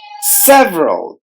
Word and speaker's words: several: K tid educated several several cells row several the letter E in the middle is silent development development d well